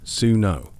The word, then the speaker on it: swnw: First things first, you visit the SWNW pronounced suo.